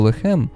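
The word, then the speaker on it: לחם: буханець тіста і зерна на івриті слово лехем означає печени хліб тоді Як арабською яка довший час залишалася мовою скутарів лахем - те саме слово але з дещо іншою вимовою означає м'ясо в перспективі Ісуса Христа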